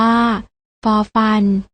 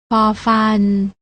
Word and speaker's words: ฟ: ไร ใช่ แล้ว ค่ะ พยัญชนะ ตัว แรก อ่าน ออก เสียง ฝอ อ่าน ว่า ฟอ ฝา ส่วน พยัญชนะ ตัว ที่ 2 อ่าน ออก เสียง ฟอ อ่าน ว่า ฟอ ฟัน สังเกต ความ ต่าง ได้